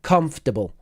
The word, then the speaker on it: comfortable: one the first one it's just three syllables and it's comble so that whole first bit that Comfort it's just one syllable com comforable comfortable and then we've got